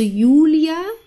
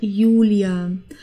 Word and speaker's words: Julia: die Leute heute okay das J wird wie ein i ausgesprochen okay also Julia also nicht wie im Englischen oder in anderen Sprachen wie wie Julia das haben wir nicht das ist einfach Julia der Januar jung dann